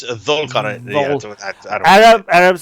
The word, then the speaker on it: Dhul-Qarnayn: It's Dhul-Qarnayn.